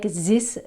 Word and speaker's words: this: So never this Z sound. It's very French. It's very typical French. I don't like this. I don't like this bar. So this, no. This, much, much better.